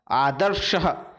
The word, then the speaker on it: आदर्शः: उसी तरह आदर्शः, आदर्श में दंत्य स का प्रयोग नहीं किया जाता है, बल्कि वहां पर तालव्य स का प्रयोग किया जाता है।